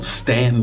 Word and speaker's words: Staunton: a small country town, Stanton, Virginia. It's spelled Staunton. That's how everybody else says it, but if you live there, you know how to pronounce it right, even though it might be wrong.